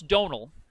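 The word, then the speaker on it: Domhnall: it makes a small it sometimes makes a V sound so it's probably if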